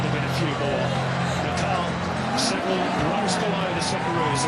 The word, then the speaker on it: Nepal: It is Nepal. That's how they say it locally.